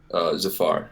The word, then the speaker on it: Zafar: Zafar. Zafar. I'm sorry. Like Jafar from Aladdin. Aladdin. Yeah, it rhymes, but not related.